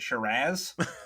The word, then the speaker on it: Shiraz: as the only person from an Antipodean country, I would just like to point out we pronounce it Shiraz.